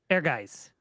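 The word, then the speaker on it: Ehrgeiz: How do you pronounce it? Air guys. Airgeis. Eric guys. This was during Square's time when they were releasing games with German names, Mm-hmm.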